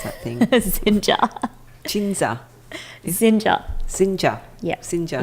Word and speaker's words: Xinja: Xinja. Xinja. Xinja. Yeah. Xinja. Like ninja. But Xinja.